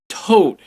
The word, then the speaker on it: Tod: a successful Kickstarter all right next up is Toad to o d but it's pronounced toad basically what it is is a